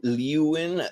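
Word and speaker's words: Leeuwen: i lu and liu liwin they spell it l-e-e-u-w-e-n it's like you in it it's french like honestly this works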